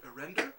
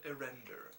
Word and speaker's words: Erender: You guys are getting ready to journey to Erender.